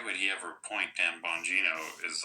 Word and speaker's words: Bongino: the beginning, why would he ever appoint Dan Bongino as like you know, maybe they just didn't And and thank you for correcting me Bongino.